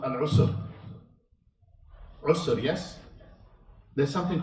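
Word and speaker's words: عسر: So in the recitation, you have to be very careful how you say it. Usr and Yusr. Two different words altogether, very close in sound.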